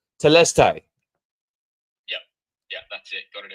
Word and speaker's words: Telestai: Yeah, so Telestai is how we say it.